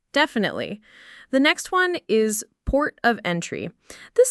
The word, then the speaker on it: port of entry: The main stress falls on port and the first syllable of entry.